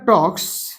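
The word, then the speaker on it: talks: তার সঙ্গে টক্স হয়েছে টক্স এল এর উচ্চারণ কিন্তু হয় না এল সাইলেন্ট থাকে মাই সিস্টার স্মাইলস আমার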